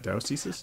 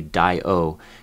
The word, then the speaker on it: diocese: I'm not sure I'm saying the plural right, dioceses? I think it's a schwa on the O. It's like diocese, I think. So it's like an unaccented syllable. You don't say di-o, you say diocese.